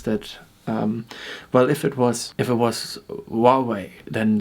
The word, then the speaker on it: Huawei: Like, this is particularly about Huawei, which is spelled Huawei.